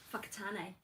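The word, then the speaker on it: Whakatāne: Uh w h a k a t t a n e Whakatane.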